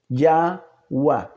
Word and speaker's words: Yahweh: y en nuestro razonamiento debiéramos pronunciar la segunda E también como A. Si lo hacemos de esta manera, llevando un razonamiento lógico, entonces el nombre del Eterno debiera de pronunciarse Yahweh.